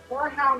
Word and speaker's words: horehound: Horehound is a weird word to say, but I don't think there's any other way for me to pronounce it except like that. It's like boar with an H.